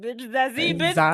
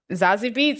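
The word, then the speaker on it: Zazie Beetz: and I was like, Zazie Bitch is the best I can do too. Fuck. Zazie Beats, that's how you say it.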